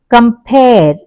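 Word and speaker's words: compare: అన్న దాని మీద పడుతుంది కంపేర్ పేర్ మీద పడుతుంది ఇల్లీగల్ ఇల్లీ ఈ లీ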